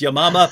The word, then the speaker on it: Yamama: the battle of i say yamama that she pronounced it correctly which is yamama but as soon as anyone says battle of